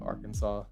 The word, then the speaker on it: Arkansas: pronounce arkansas right yeah is that why people pronounce it not our kansas but arkansas is because of that law just the spider